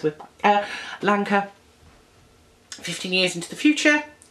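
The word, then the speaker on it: Lancre: So what they do is they move the whole of the town, the village, Lanka, rhymes with Lanka, 15 years into the future, so that the boy Tom John is grown up.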